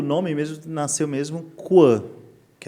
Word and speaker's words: Coin: Então, na verdade o nome coin são duas pronúncias, né? ou quan que é canto esquino em francês. Isso. Ou coin de moeda, moeda, né? Em inglês. Explica senão as não acompanham. Inglês. Eh, então o Coin tem duas pronúncias, ou em inglês ou em francês, né?